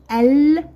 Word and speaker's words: القدم: والشمسيه زائد قدم تساوي القدم القدم القدم القدم هنا نطقنا ماذا اللام نطقنا ماذا اللام جيدا اذا كره القدم كره القدم كره القدم جيد اذا فهذه القمريه القمريه احسنتم اذا ال زائد